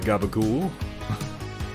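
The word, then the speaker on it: capicola: recently that that is it's just a funny pronunciation for what appears to when written be pronounced as capiccola but then i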